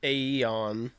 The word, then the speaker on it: Aeon: The software is called Aeon. I think it's just pronounced Eon, but Aeon.